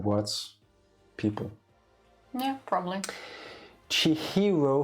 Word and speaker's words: Chihiro: words people yeah probably chihiro fujisaki yeah makes sense not chichiro is known for all